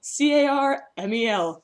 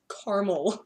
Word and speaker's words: caramel: extra a just sit c-a-r-m-e-l okay the Portage Theater not even it's not it's wow the it's not Carmel it's caramel no the theater here